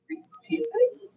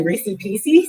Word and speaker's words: Reese's Pieces: Reese's pieces. Okay. Because some people say Reese's pieces. Some people say racy pieces because they like it rhymes.